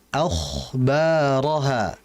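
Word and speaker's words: أَخْبَارَهَا: Perhatikan pada kha sakinah. Kha ini huruf yang tebal, maka merupakan kesalahan kalau kita bacanya yauma idzin tuhadditsu akhbaraha. Akhbaraha. Dari sisi makhraj mungkin benar, tapi dari sisi sifat kurang tepat.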